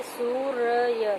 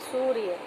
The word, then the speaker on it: सूर्य: ऊपर हमने र लगाया, लेकिन जब हम इसका उच्चारण सूर्य का हम करेंगे तो य से पहले र का उच्चारण हमें करना होगा। जैसे सूर्य, सूर्य, तो इस तरह से